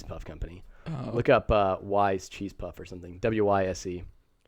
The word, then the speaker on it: Wyze: ways. Wyze. Wise, not ways. As far as my understanding, that's how you pronounce it.